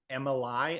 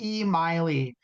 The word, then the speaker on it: Emily: Thanks for joining us, Emily. Am I pronouncing that right? I think it's And E Miley. E Miley, like it's Miley, like yeah, Miley, like an E electronic Miley Cyrus.